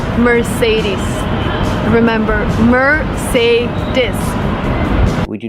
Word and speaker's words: Mercedes: do not say Mercedes the last vowel is not I like milk and this is It's the long e like green beans we say Mercedes Mercedes the final sound is not s like Star it's Z like zebra Mercedes Mercedes put the stress